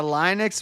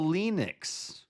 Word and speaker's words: Linux: I'm going to go So, we got a Linux, we got a Linux. I'm going to go Linux. Linux. I go with what the creator of the thing actually says it is.